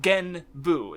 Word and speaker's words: Genbu: where like in Japan, the only consonant sound they have as an ending to a syllable is N. So like Genbu, that's actually like, it's technically like it would be 3 characters if written out in the common one. Ge-n-bu.